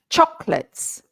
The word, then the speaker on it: chocolates: repeat after me chocolate two syllables two syllables chocolates even the plural is two syllables right none of this